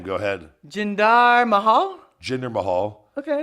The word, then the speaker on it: Jinder Mahal: Okay, Jinder fine. Mahal. Jinder, Tinder. Okay, I get it. Yeah. Jinder Tinder Mahal.